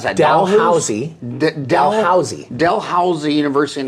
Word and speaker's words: Dalhousie: Rhoda graduated from the Faculty of Dentistry at how do you pronounce that Josie Dalhousie Dell how's the University in Halifax Canada is